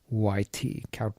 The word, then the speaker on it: Kuyt: It's spelled Kuyt, Kowt beer.